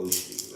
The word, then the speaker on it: oshi: Uh people would spell that osi or o hi. I think online people have a tendency to uh with words that have the sh sound to just write s.